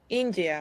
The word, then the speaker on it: India: How many syllables does India have? 2. Say the word, count out the syllables. No, 3. India, 1, 2, 3.